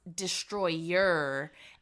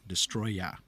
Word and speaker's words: Destoroyah: have to say, like, is it Destoroyah? Because in the movie it's subtitled Yes. as Destroyer, and they just pronounce it in Japanese as Destoroyah. So is it? The English posters and videos and everything say Destoroyah. Y-A-H. Destoroyah. Not Destroyer.